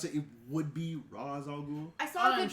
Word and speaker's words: Ra's al Ghul: Take Vandal Savage back, and T'Challa has to take on the likes of Ra's al Ghul.